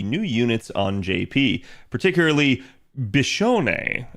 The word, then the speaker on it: Biscione: units on JP particularly bishon is how I believe you say her name um if I've butchered